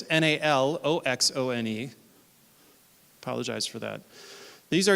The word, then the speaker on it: Naloxone: I can't pronounce the Naxolone. I'm sorry. Thank you. Naloxone. In fact, it's misspelled on this slide. I sent an updated version of this, and I'm sorry. So it's Naloxone.